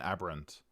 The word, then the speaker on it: aberrant: turns out there's actually two pronunciations according to the Merriam-Webster, where aberrant is one of them, and the other is aberrant.